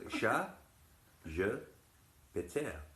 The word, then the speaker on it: ChatGPT: confusing in France because the French pronunciation is ChatGPT. And this in French sounds like cat, I have broken wind. Chat, je, péter.